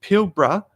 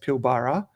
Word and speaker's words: Pilbara: me many times by saying it's not pronounced Pilbara, you Victorian.